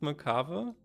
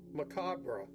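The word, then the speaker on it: macabre: Okay, there are three different ways of saying it. Thanks, American Hero. So, the UK one is just Macaba. Macabber. But in in the US, you can say it three different ways. Macabra or Macob or Macabber.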